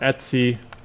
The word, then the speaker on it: etc: And the classic example that I'm going to go to here is the Etsy password file. So etc is short for etc but we pronounce it etsy in the Unix world.